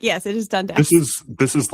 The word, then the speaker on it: Dundas: Well, I think they've changed it now, but like, yes, it is Dundas.